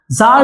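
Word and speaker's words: Tsar: इनके रूलर थे उनका नाम था ज़ T silent Nicholas to. जार Nicholas to के द्वारा रूल किया जा रहा था।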